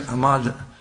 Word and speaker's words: Ahmadinejad: You want to get Ahmadinejad, I guess is the proper pronunciation, who says Israel must be wiped off the map, the president of Iran.